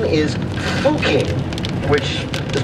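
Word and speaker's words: Fucking: because its name is fuking which is pronounced that way but spelled like a word in english that's pronounced not quite that way i don't know though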